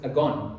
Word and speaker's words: agon: I don't know how to pronounce it it's Aon a g o n it's the Greek word and and it's the